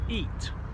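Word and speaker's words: ит: fact for you actually the word for dog in kazakh language is pronounced eat not sure you go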